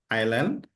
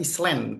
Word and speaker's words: island: Oke, bacanya island ya, bukan eas tapi island itu pulau ya.